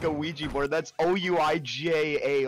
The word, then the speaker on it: Ouija: That's O-U-I-J-A. Like, why is that a thing? Why is that pronounced Ouija?